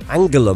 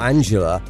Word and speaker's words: Angela: getting wrong here because if she is angela merkel and not angela which basically is how it's spelled let's be honest here